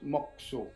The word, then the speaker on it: mokusō: Le kanji mokuso se prononce mokuso.